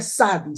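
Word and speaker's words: צדי: Esta letra significa o se pronuncia Sadi.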